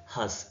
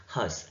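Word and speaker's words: hearse: बोलते हैं क्या बोलेंगे हंस इसमें आर साइलेंट रहता है क्या बोलेंगे हंस ह ए ए आर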